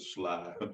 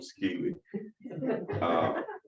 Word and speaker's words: Skeely: They call, you can say pronounce it Sly, but they call him Skeely.